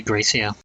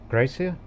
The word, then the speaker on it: Graecia: Probably Gracia.